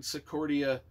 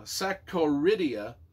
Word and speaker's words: Sacoridia: For Rogue Elysian had cracked the magical Dier wall which had protected Secordia. I'm not pronouncing Secordia right at all. Sacoridia.